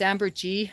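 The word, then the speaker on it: ambergris: It's amber G or Amberus. I think it's French. You don't pronounce the I S.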